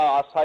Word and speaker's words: यासा: ज्यादा इंसाफ उसके बकायदा आसा या यासा दो तरीके से प्रोनाउंस करते हैं उसके कवानी का मजमुआ